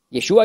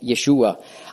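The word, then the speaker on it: ישוע: yeseshu nennen anstatt Jeshua Jeshua ist die die hebräische Aussprache für Jesus griechisch ist der Aussprache Jesus Hebräisch Jeshua aber die sagen jeshu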